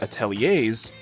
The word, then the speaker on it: atelier: And if you're working with the Ateliers and yes, that's how you pronounce that, Atelier then you'll be working with construction.